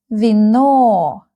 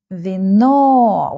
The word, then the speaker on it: вино: In Russian, ВИНО. ВИНО. We have two syllables in this word, and the second syllable is stressed.